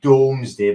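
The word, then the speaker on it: Domesday: It might be Doomsday, but it's pronounced the Doomsday Book.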